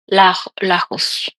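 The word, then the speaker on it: Lajos: And his first name, I think it's spelled L A J O S. Lus.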